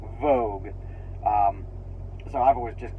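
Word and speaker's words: Woge: of change um so it's a w-o-g-e but it's pronounced Vogue um so I've always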